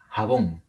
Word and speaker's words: jabón: Una de ellas es jabón. Jabón. Se tilda porque es una palabra aguda que termina en N.